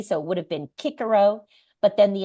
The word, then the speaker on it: Cicero: Kiko but then the Italians would say Chicho right so that soft sea so I use Cicero because there's two C's in there right so Kiko uh Chicho in Italian or ecclesiastical or medieval pronunciation and a lot of